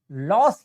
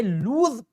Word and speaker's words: lose: ठीक है, चलिए जो दूसरा शब्द है इसको कुछ लोग लॉस ही पढ़ते हैं, लेकिन इसका सही उच्चारण जो है वो ज में आता है। ये लूज का उच्चारण लेकर आता है कि इंडिया वांट टू या इंडिया डज नॉट।